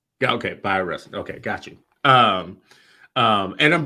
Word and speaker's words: Bayard Rustin: Bi instead of bae. Bayard Rustin. Yeah. Okay. Bayard Rustin.